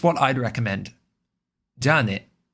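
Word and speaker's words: じゃあね: Ja ne. With the ja first ja being higher pitch. Ja ne.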